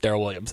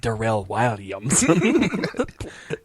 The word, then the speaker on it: Daryl Williams: I always wanted to tell also, hosts, like, it's not pronounced Daryl Williams. It's pronounced Darrell Williams.